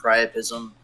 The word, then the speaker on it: Prism: yet committed was good prism how do you say your name man yeah you can just say it like prism and uh if anything